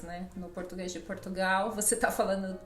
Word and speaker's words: português: Ou então, a minha nacionalidade, português, mesma coisa. Só pronunciamos o E. Enquanto que no Brasil... Português. E Exatamente. ainda nós colocamos sempre um izinho, e muitas vezes nós acrescentamos vogais ainda no Brasil, que nem português.